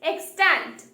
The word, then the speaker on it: extant: first word is extent the pronunciation is extant it is an adjective and